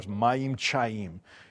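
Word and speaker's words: מים חיים: The um in Hebrew, it's living water, mayim chayim. It's this living water and I love it cuz it rhymes and it like it sounds like, "Oh, mayim chayim."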